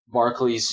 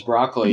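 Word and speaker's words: Barclay: run-ins with Picard, or Picard mispronounces his name as Broccoli.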